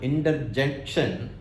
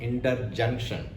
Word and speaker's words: interjection: And second thing, when one of my colleagues recently pronounced this word interjection, he pronounced somewhat like interjunction.